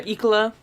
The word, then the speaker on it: Ecala: Ecola? Yeah, Ecola.